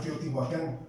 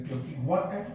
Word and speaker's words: Teotihuacán: Por ejemplo, siempre cuando se habla hablamos de terminación, por ejemplo, Teotihuacán. Ahí tenemos un can. Su pronunciación, ¿cómo sería? Teotihuacán.